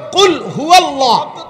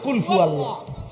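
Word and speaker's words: قل هو الله: কি বললেন শব্দ তো হলো কুলহু আল্লাহ আপনি তো বলেন কুলফু আল্লাহ কুলহু আল্লাহ তো যেটা যেভাবে উচ্চারণ করার কথা ওইভাবে উচ্চারণ করতে হবে নয়তো এটা রুকু ঠিকমত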